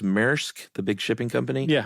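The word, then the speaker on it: Maersk: And I think uh is it pronounced Merk, the big shipping company?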